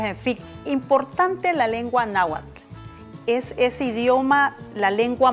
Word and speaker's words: náhuatl: Y vamos a hablar precisamente de la influencia de la lengua náhuatl, que es la pronunciación correcta, y también cómo ha ido esto influyendo para la construcción de una identidad.